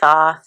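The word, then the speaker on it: Thoth: the Tho deck and it's pronounced tho I had someone last time I use this tummy no it's pronounced T nope it's the um it's named after the Egyptian god b as always these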